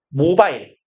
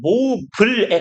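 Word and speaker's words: mobile: 여기서 모바일 우리이라고 보통 있는데 그 영어식 발음은 모블에 가까워요. 모이 생략된 거예요.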